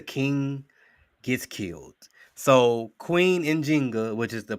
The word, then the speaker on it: Njinga: So Queen Njinga, which is the pronunciation of her name, Queen Njinga, not Nzinga. Nzinga is what the Portuguese call her. That's because their J's sound like Z.